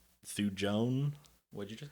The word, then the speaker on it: thujone: that is um and I'm not going to pronounce this correctly fujon thujone what'd you just call me t-h-u-j-o-n-e um and